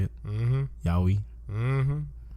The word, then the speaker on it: yaoi: not fall into common sexualized tropes found in yaoi. Yeah. That's how you say it? Mm-hmm. Yaoi.